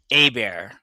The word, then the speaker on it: Hebert: So, it's actually Heert is actually pronounced Abear.